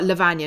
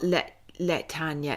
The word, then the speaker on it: Lavagna: Oh, Lavagna, not Latanya.